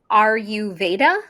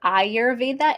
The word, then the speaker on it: Ayurveda: do you pronounce that a lot of people pronounce it aru Veda because that's easier uhuh I I call it ayurva a y are but ayurva is this ancient